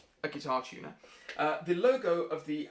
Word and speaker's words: GuitarTuna: use is guitar tuner it's spelt g-u-i-t-a-r-t-u-n-a okay so it's the word guitar and the word tuna but spelt like the fish um not a guitar tuner uh the logo of